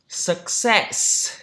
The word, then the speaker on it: success: Success, trọng âm thứ hai đúng không?